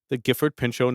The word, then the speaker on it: Pinchot: Yeah, the Gifford, the T would have to be silent, right? That's what I'm thinking too. The T is silent, so it would be the Gifford Pinchot Natural.